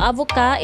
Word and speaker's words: avocate: However, adding an E to a final consonant necessitates pronouncing that final consonant sound, like the word avocat. Avocat means a male lawyer. Just add E to the final consonant to becomes avocat.